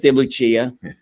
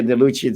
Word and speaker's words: De Lucia: mispronouncing it you're right it's de lucia but we pronounced it here the lucci the same thing with